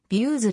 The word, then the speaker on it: Veusz: に設計された日明日は views と発音されるこのプログラムは pdf postscript